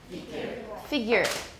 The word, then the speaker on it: figure: a pronunciation of figure it is not figure it's not you it's an it's a schwa everyone figure figure we have this slang